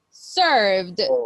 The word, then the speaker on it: served: or anticipated very good the last one is served remember the E doesn't have a sound it's like it's not there served served served Ser